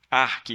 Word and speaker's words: ARC: ARC, o C é mudo.